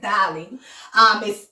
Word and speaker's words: Dalie: I want to say Dalie, but I think it's just Dalie.